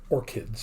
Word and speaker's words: orchid: way minor point here the CH in the flowers name is pronounced like a cake actually orchids orchids alright I know you've